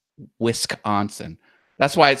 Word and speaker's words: Wisconsin: you do it properly it's whisk is like one part of it not with con that's wrong it's whisk onsen that's how you say Wisconsin that's why it sounds